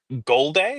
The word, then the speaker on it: Golday: And today, Ian, you're going to tell me about Jake Golday? Is that how you pronounce it?